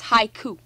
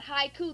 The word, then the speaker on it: haiku: 575 japanese syllables but haiku the word haiku in America is two syllables in Japanese is three so the so 575